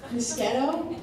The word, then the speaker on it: Moschetto: I love when people pronounce my name correctly, Moschetto. I said that phonetically once to someone, and they thought it was a stage name, Miss Ghetto.